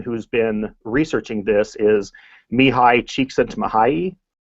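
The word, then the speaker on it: Csikszentmihalyi: been researching this is Mii CHS mahay and that's how you pronounce the name there I put it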